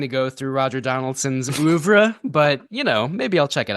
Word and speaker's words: oeuvre: I feel like you have to really pronounce it, as French as possible whenever you say it.